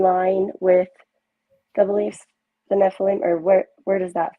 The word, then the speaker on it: Nephilim: are supposedly the um Nephilim is that how you say it Nephilim yeah yeah they're the really giant people it's Nephilim Nephilim okay thanks so they